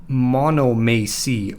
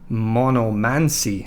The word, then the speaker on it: monomachy: Well, that's when Cainites resort to a judicial duel, which the books erroneously call monomachy or monomancy, as I've heard it being pronounced.